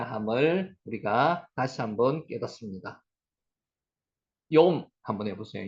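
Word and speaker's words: יום: 욤 한번 해보세요. 욤, 욤, 욤이 낮입니다. 낮, 낮. 아까 라에라라고 그 문장 안에서는 발음을 했고요.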